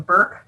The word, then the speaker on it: Bork: One comment, Polly, we pronounce my last name Burke, not Bork.